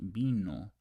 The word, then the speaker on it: vino: Alba elino remember that there's no Vino in Spanish pronounced Vino with a B with this B right